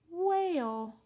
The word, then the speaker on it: whale: Now we need the word whale. So we need another lowercase w, another silent H, A, Mr. A, whale, Lucy Lamplight, and then to make Mr.